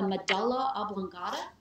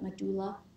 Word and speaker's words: medulla oblongata: to talk about the medulla oblongata some people pronounce it my doula it's okay either way medulla oblongata that's where